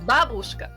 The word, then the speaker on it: babushka: It's just the emphasis is on a different letter, like.